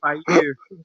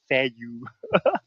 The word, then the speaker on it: FaKyu: The Y is pronounced E.